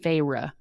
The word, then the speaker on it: Feyre: someone please tell me, but it's spelled Feyre, but in the book she says it's pronounced Feyre, so I think that's how it's said.